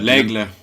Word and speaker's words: L'Aigle: How do you pronounce that? L'aigle. That's eagle. That's eagle in French.